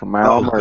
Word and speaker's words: Kamau Murray: That's correct, Kamau Murray.